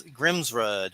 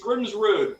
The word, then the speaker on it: Grimsrud: I always Grimsrud? I said it right, right? Yeah, it's Grimsrud, but Grimsrud. nobody ever wants to say rude, so they always say Grimsrud.